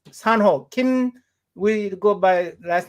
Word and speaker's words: Sanho Kim: Jose yeah on his his name is pronounced San ho Kim we go by last